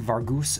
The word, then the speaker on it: Vargas: L uh wait Captain Vargas wrath cool Pirates it's it's pronounced Vargus R and we got